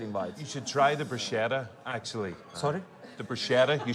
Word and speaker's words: bruschetta: Bruschetta. Sk. That's what we say, all right?